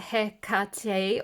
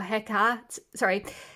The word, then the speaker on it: Hecate: Hecate's pronounced Hekate or Hekate or Hekate.